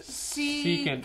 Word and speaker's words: secant: How do you say it? It's secant.